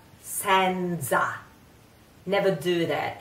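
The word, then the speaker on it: senza: so I grew up like that I'm sorry sometimes it comes out it's Sansa set set set you try set sin sin now a concentrate on that it's not Sansa never do that it's really funny it's really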